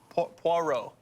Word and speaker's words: Poirot: do you say that name hercule hercule hercules poirot poirot okay i've never read them never read